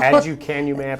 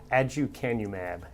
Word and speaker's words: aducanumab: I'm going to have you pronounce it, first of all. Aducanumab or Aduhelm. Okay, yeah. Say it again. Aducanumab.